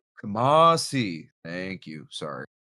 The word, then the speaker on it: Kamasi: By the way, his uh name is uh pronounced Kamasi Washington. Kamasi.